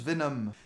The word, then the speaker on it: Venom: Emma Frost ou même Venon ah non ça se prononce Venom si certains reprochent à